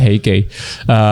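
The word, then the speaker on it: Hee Kee: Kalau orang kita kan bacanya Hiki kan. Hiki. Sebenarnya bacanya Heikei.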